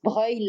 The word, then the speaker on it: Breuil: Well, you could read it like in Italy, Broglie, Breuil. It's Breuil like the Italian broglie, Breuil, Breuil, Breuil.